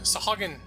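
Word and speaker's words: sahuagin: new thing that happens is a bunch of saugeen sahagan surface that's how it's pronounced i don't think like we did in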